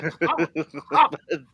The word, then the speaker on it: Cohen: It is Cohen, by the way, but you got to say Cohen. You got to say it like a spit on that thing.